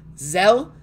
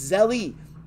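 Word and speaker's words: Zelle: There's an E at the end. Zell? It's not Zell. What is it called? Zell? No, it's Zelly.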